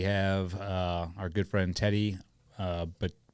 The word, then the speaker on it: Batarao: Today we have our good friend Teddy Batarao.